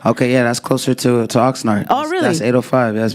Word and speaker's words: Oxnard: Oxnard.